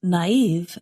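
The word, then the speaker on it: naïve: Naive is spelled N-A-I-V-E, and we put two little dots above the letter I to show that we pronounce that vowel separately.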